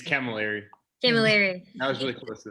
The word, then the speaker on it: Camilleri: say your last name can miller camilleri kim jerry it's camilleri that was really close